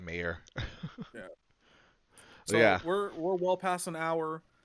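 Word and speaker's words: Meier: It's like Mier. It's Yeah, I know it's an M. M-E-I-E-R. So Shout outs to white it's people. probably like it's probably like Mayor.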